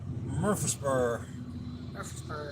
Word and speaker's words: Murfreesboro: Just like we've learned that there's a city in Tennessee called Murfreesboro, but it's actually just Murfreesboro. Murfreesboro. If you want to say it like a true Tennessean.